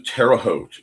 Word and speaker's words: Terre Haute: After cat lunch, we are off to Terre Haute in Certain. Rhymes with boat to Muncie, and inserting Dawn makes everything a little bit more interesting.